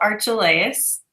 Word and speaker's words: Archelaus: My name is Rachel Archelaus. I like to say that it rhymes with Amadeus, and that's easier to remember.